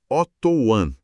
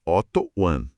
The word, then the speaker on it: Oto One: Este é um espaço de informação, de cuidado, que é oferecido pela clínica Otto One, pronunciando certinho, Otto One.